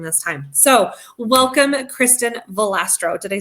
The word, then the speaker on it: Volastro: be on during this time so welcome kristin valastro did i say your last name correctly we did everybody usually butchered it but you're good that's okay because